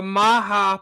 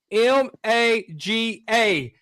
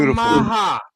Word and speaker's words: maga: That is the Maha Puerto Rican flower. It's spelled M A G A. A lot of people call that MAGA, but he did the Puerto Rican flower called the Maha.